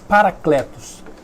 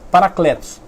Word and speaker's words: parakletos: Se escreve para de parar mesmo, kletos, K-L-E-T-O-S, parakletos. A tradução literal quer dizer pessoa chamada para acompanhar. Eu vou repetir, parakletos, pessoa chamada para acompanhar.